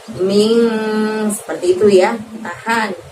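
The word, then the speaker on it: مِنْ: Jadi bukan bunyi N yang jelas, tapi N yang agak samar. Maka kita bacanya ming, seperti itu ya.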